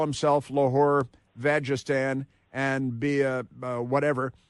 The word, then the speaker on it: Lahore: because there is a city in the Punjab in Pakistan called Lahore, but it's not spelled like la prostitute. It's Lahore, and it's in Pakistan.